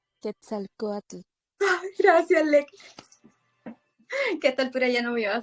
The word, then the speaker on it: Quetzalcóatl: el maestro cómo se llama lequia como se pronuncia Quetzalcóatl gracias no me iba a salir y entonces